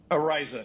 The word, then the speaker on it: Araiza: So Matt Araiza, I don't know how to pronounce his last name. Araiza.